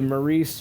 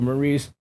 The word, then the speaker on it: Maurice: were all right the I said the mace Richard trophy but um I was corrected because it is Canadian it is pronounced the Maurice R Trophy and that is for